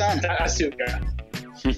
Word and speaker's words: Asuka: Wii 's or PCS ASA is that how we're saying it w is doing one thing right because Japanese pronunciation you never pronounce the you okay but is Asa that's Asuka yeah I can't wait